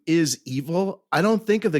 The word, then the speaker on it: Evel: though his name is evil I don't think of the guy as evil no I just think of evil that it rhymes with keval it's like today when